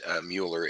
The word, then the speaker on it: Mueller: Do notice that my last name, even though it's pronounced Mueller, it is spelled like Muller.